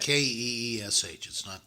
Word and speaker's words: quiche: It's plate, not but- Keesh. That's No, not it's a how you QU. spell it.